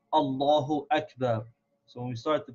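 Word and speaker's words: أكبر: so we have to make sure to pronounce this Aleph very clearly and sharp Akbar Allahu Akbar so that we can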